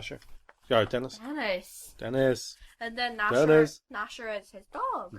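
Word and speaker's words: Gnasher: sure sorry Dennis Dennis nashera is his dog Nasher with silence Nasher with the silent G and everything else about him it begins with G even though it's silent it's just funny and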